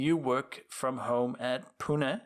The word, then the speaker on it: Pune: Anyway, Mayur, you're a program manager on Xamarin team at Microsoft, and you work from home at Pune. Is that correctly pronunciation? Pune? Yes, exactly.